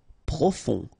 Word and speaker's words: profond: Profond. Final D not pronounced. O-N, on.